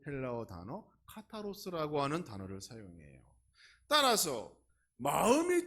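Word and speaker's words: καθαρός: 청결은 헬라어로 카타로스라고 읽는데 그 원래의 뜻을 보면 순수하다 그렇습니다.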